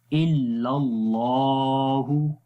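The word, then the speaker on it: إلا الله: तो जब अल्लाह के नाम से पहले ज़बर आ जाए तो वहाँ पर अल्लाह के नाम के अंदर जो लाम है उसको मोटा पढ़ेंगे, क्योंकि ये ग्रीन भी है इसलिए इसको मोटा पढ़ेंगे। तो पढ़ेंगे इल्लल्लाहु, लाम को लंबा करेंगे, उसके ऊपर खड़ी ज़बर है इस वजह से।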